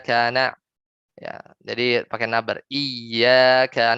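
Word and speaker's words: إياك: Iyyaka ini harus tulis apa bacanya dengan nabar. Iyyaka na'bud misalnya. Iyyaka na'bud. Tapi misalnya nggak nabar jadi iyyaka ya iyyaka na'bud ya. Nah, itu hanya masalah nabar atau tidak ya, nabar atau tidak.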